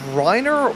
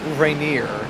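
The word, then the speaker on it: Rainier: Is it Reneer? See, I'm I'm thinking is is it Reiner or Reineer? Cuz it it can be pronounced both ways.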